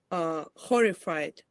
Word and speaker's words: horrified: It's not E. It's I. Maybe, or even. Horror. Horrified. You can use you can use It's a weak syllable. But remember, if it's a weak syllable, it's very unlikely to be E.